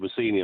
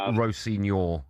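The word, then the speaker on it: Rosenior: I nearly said Rossini, but it's not pronounced like that, is it? No, I think it's Rossignor. I think that's how you say it.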